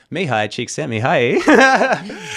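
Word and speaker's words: Mihaly Csikszentmihalyi: I know how to pronounce his name, which is like 80% of why I'll say it. Mihai Csikszentmihalyi.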